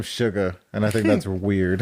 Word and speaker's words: Suga: real name though yeah his name is it's suga oh i thought it was sugar you just pronounce it sh you know what they have